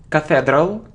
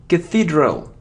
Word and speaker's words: cathedral: become expect etc these so it isn't Cathedral no it isn't cut it roll no it's and it isn't Cathedral its care is the first thing and Cathedral its Cathedral Cathedral so it isn't so